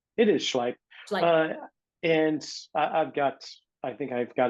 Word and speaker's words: Schleip: I can never pronounce the doctor's name. It is Schleip.